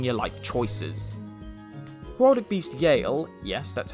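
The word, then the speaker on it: Eale: highly advise reconsidering your life choices product beast Yale yes that's how it's pronounced is an earth beast with a thousand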